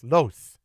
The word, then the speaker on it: Los: Los.